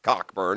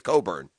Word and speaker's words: Cockburn: they're a fabulous prospect it's not cockburn it's coburn no yeah you tabbed him as cockburn well it's spelled cockburn i thought i think